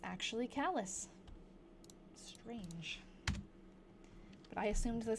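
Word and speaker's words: Calais: Actually, it's pronounced callus. I was saying cala because that's what I assumed with like the French pronunciation what it would be, but it's actually callous.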